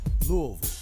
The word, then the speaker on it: Louisville: Just so you know, there's the state of Kentucky, and then there's Louisville. Okay, you gotta say it right too. It's Louisville.